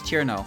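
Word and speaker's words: Cirno: Why, are you upset that I left out a syllable? Fuck off, touch grass. Bro, it's Chirino. Yeah, I don't give a shit, it's Chirno.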